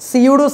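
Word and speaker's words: pseudo: That's এটাকে আমরা বলি সিউডো সাবজেক্ট তথা ডুপ্লিকেট সাবজেক্ট অথবা নকল সাবজেক্ট অথবা ফেক সাবজেক্ট। সিউড subject. বলিও না আবার সিউড সাবজেক্ট। এখানে ফিটা হচ্ছে সাইলেন্ট লেটার।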